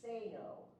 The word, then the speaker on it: Sanow: It is Rod, and he says it's Sano. Sano. He said it differently last night, I thought.